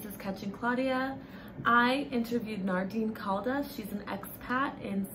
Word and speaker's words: Nardeen: Catching Claudia, we have a guest, Nardeen. Is that how you pronounce your name?